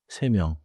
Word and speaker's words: 세 명: Say 1시, 두 개, 세 명. Also, do not make 두 개 into 두께. 하나 더 기억하세요. 명 begins with 미음. So 세 명 should not have a hard stop between 세 and 명.